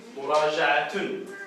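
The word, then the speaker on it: مراجعة: Это му, да? И потом есть ра, жа, а. Это тун, да? Муража'атун.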